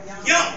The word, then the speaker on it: Jong: Is that Jong? Jong? Young. That's a young man. J-O-U-N. J-O-U-N. That's Erica Young.